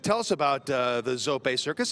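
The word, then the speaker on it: Zoppé: zopay italian family circus stan hey you actually pronounce that right brook zopay hey you said a new circus you know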